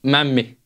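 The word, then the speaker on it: mämmi: Before we leave the food, the last two food-related questions are: what do you think of memma? Memma, is that how you say it? Memmi.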